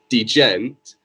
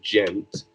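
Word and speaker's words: djent: know social just yet d gent or how it's supposed to be technically pronounces gent that is a sub-genre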